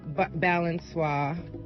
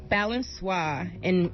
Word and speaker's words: Balançoire: Well, it's once a week at Balançoire. At where? Balançoire on Mission in San Francisco.